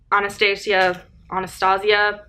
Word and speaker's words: Anastasia: Anastasia, that's how it's pronounced.